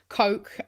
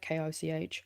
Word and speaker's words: Koch: Washington meeting, pitching to Koch Industries, or Koch, however you're supposed to pronounce that, K-O-C-H. Oh, okay, not like Coca-Cola, the Koch brothers.